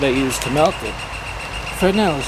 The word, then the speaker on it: Fresnel: use to melt it fresnel is spelled FBR s n e l the S is silent there's lots of other